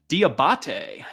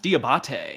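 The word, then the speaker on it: Diabaté: All right, I looked up how to actually pronounce his last name. Uh, so it is Diabate. Diabate.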